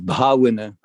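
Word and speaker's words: bhāvanā: Like when the example there that Zita gave of bhavana, which obviously has a long A, as opposed to bhavati.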